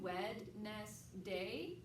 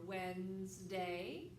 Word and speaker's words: Wednesday: starts with the W Wed nest day for spelling or Wednesday a Wednesday tomorrow's going